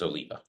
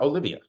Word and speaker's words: Oliva: The cigar brand is Oliva. Oliva. And it is not Olivia.